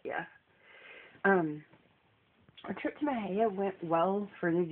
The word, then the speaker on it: Mexia: any of you wondering that's how you pronounce it Mah a lot of the locals who live there call it my hair like my hair M hair but it's Mah um and we went to